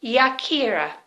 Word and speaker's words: Yakira: So, by the way, my name is Yakira, spelled with a Y, Yakira.